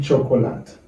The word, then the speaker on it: chocolate: Je nous tape suivre, nous elle te dit chocolate. No, this word is not pronounced like chocolate.